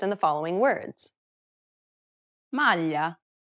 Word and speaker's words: maglia: It's a peculiar sound because it sounds somewhat like an English L, but not exactly.